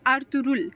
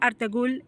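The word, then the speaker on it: Ertuğrul: तो उसको हम लोग कहेंगे अर्थ रुल। अर्थ रुल इज the real और करेक्ट प्रोनंसिएशन। इट्स नॉट अर्थगुल। ठीक है? इट्स अर्थ रुल।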